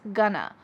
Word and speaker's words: gonna: But we can reduce it even further and cut off the G and say I'm gonna, which is what I said earlier.